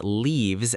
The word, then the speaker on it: leave: For the train, we say the train leaves at 10 o'clock with a long E sound like tree.